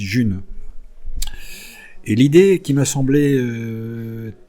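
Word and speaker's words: Ğ1: Ça s'écrit G et 1, ça se dit June.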